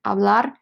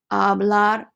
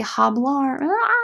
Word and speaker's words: hablar: write it down again hablar to speak hablar to speak please don't pronounce the h guys don't say hablar okay these guys they